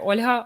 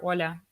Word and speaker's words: Olha: So you can call me either Olha or Ola.